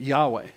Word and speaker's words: Yahweh: i started comparing now they didn't spell it the same way spelled it y-a-w-e but yahweh that's what it sounds like this is emotional for